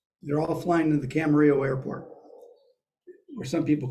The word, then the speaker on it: Camarillo: They're all flying to the Camarillo airport, or some people call it Camarillo.